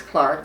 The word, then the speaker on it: Clerke: and it it's it looks like Clerke but actually the pronunciation is Clark it's the Irish spelling and I was born